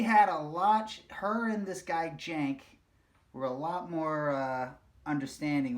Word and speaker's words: Cenk: But they pronounce it Jank.